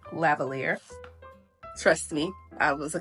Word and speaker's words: lavalier: And if you didn't know, that's how you say it. Lavalier.